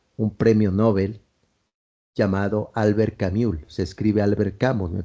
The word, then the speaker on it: Camus: pueden ver la película alber se escribe Albert camus pero como fue de origen francés Albert camul el extranjero otro libro